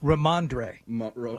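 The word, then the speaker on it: Rhamondre: Ramondre.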